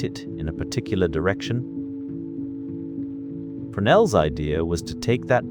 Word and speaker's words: Fresnel: In the year 1822, a French engineer named Augustin Jean Fresnel, and his name is pronounced, roughly, Fresnel, in the French fashion, designed a new kind of lens.